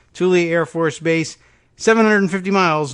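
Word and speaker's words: Thule: the air base at Tuli I think is the pronunciation t hu l e Tuli Air Force Base 750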